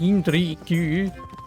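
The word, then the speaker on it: Jindřich: Like, people who aren't potentially or necessarily going to go out of their way to try and pronounce, oh, it is pronounced Yindrik.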